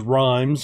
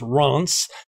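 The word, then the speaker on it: Reims: looked up the pronunciation i thought it was rhymes or rims but it's ronce so uh hey i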